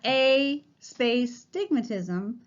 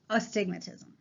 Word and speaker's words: astigmatism: incorrectly a lot and the word starts with an a so it's us the word itself is astigmatism okay it's not a space stigmatism the whole word is astigmatism and this occurs because